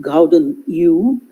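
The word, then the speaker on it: Gouden Eeuw: longer use the term golden age uh it's pronounced gauden u to describe the 17th century when i mean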